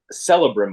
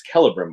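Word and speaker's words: Celebrimbor: now you know people are knowing how to pronounce some of these names that maybe they've read and not like it's it's not celebram or it's calibrom board yeah and uh just all those little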